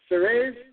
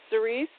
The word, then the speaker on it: Ceres: It's like I'm going to pronounce this correct before the night's over. It's Ceres. You still here? Yes, Ceres.